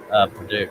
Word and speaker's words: Paducah: I pronounce it Paducah.